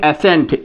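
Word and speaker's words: ascent: lock पढ़ते हैं यहां आप देखेंगे एसेंट ए एस सी ई एन टी तो एसेंट या सी साइलेंट हो गया ये ई जो है एस एस पे जो है ये जो है ए का सेंस दे रहा है एेंट कहा जाएगा ओके अब नेक्स्ट आइए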